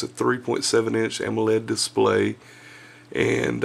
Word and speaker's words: AMOLED: It's got a, what is it, a 3.7 inch AMOLED display, which I have a hard time pronouncing for some reason, but it's AMOLED, AMOLED.